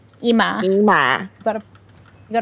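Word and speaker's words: Immah: IM i m i m m a h IMA IMA got to you got to pronounce it like that I kind of I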